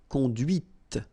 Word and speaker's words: conduite: And that's when you hear the difference between conduit, because remember, final T is not pronounced, conduit here, and then the feminine, conduite. Okay, so here you can listen to this t, t, okay, conduite.